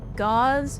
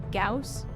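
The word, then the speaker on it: Gauss: my entire life was pronouncing it gauze instead of gaus rifle I'm from Texas which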